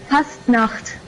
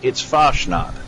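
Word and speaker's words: Fasnacht: It's pronounced Fastnacht. That's the word. It's Foshnot. All right, trust me. I live in Appalachia. I know how we say it down here.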